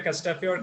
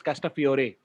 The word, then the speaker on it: Castafiore: that he said it's Castafiore, not Castafiore. We say Castafiore. It's a Castafiore as well. I mean, Italian, I suppose they pronounce the vowel at the end.